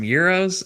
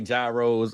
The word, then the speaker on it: gyros: can we get some euros?" And he's like, "What? What the hell are euros? You mean gyros?" I'm like, Dad, that's not how they say it. Some people say euros. I say gyros.